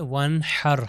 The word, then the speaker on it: ونحر: دیکھ سکتے ہیں ونحر، یہ ونحر ہا جو ہے اس کا تلفظ گلے سے ہونا چاہیے۔ ان شانئک هو الابتر،